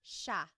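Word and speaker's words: siya: It looks like it should be pronounced sea, but it's actually pronounced sha sha.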